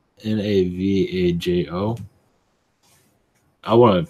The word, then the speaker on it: Navajo: well I'm seeing what I got is a Navajo I think that's how you just pronounce it Navajo Indians you connection your P oh it's called n a v AJ o I want to pronounce it Navajo but uh